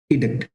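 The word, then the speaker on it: edict: Okay, थोड़ा सा differentiation है आपका प्रोनाउंसिएशन, बट इसे हम लोग पढ़ते हैं इडिक्ट।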